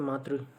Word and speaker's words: मातृ: मातृ, तो मातृ में हाँ ठीक है, मातृ उच्चारण लेकिन ऐसे होगा मातृ, ठीक है।